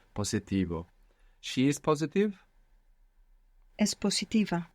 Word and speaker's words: positivo: Good, and you pronounced an S, where most English speakers will probably find themselves pronouncing a Z there, because in English we have positive, so that would probably transfer into Spanish to positivo, and we want to be careful not to do that.